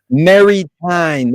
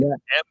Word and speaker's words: Maritain: Maritain. Maritain.